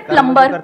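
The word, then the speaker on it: plumber: सर जैसे प्लम्बर, सब लोग प्लम्बर बोलते हैं हमारे देश में, बढ़िया है यार, क्या दिक्कत है? बी साइलेंट है, उसमें प्लम्बर ही तो होता है।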